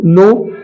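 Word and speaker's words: knee: जैसे एग्जांपल देखते हैं के एन डबल ई ये क नहीं है बल्कि ये नी है नी क नहीं है बेटा ये नी है नी मतलब घुटना होता है अगला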